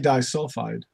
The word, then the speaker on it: disulfide: Russ yes molybdenum disulphide okay that's how you pronounce that is it as bad as I am with names I sure wasn't gonna take a crack at that it's definitely disulfide yeah get the disulfide but Molly I think